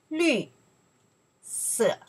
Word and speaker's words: 绿色: 绿色. One more time here. 绿色. That's character we pronounce the 绿.